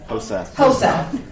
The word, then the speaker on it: HOSA: HOSA. I just didn't want to mispronounce it. Tina also serves as a HOSA Future Health Professionals Advisory at the Surrey Early College High School.